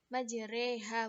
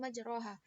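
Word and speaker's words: مجراها: surat hud ayat 41 Imam hafaz membacanya dengan imalah Alif setelah ro majreha bukan majroha kalimat a jamiun dalam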